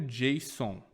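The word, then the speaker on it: JSON: que nós chamamos de objeto Jon se escreve J s o n Ok esse objeto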